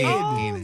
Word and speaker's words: Enid: Hi, Enid. Like Wednesday.